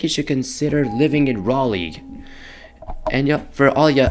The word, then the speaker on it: Raleigh: somewhere i think you should consider living in raleigh and yeah for all your uneducated folks this is how to spell it r a l e i g h